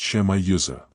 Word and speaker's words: Shemiyuza: His name is Shemiyuza. Pronounced Shemayuza.